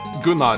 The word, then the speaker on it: Gunnar: I don't know, you probably say Gunnar or something, but Gunnar is how you say it in Norwegian.